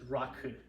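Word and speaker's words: rakı: What do you mean not Raki? It's Raki. Yeah, but you want to say the correct name? It's Raku.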